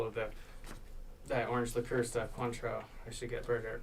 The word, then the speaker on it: Cointreau: Contro? Cointreau.